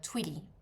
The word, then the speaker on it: twilly: And the one that you wrap around the the the handle of your bags, that's called a twilly.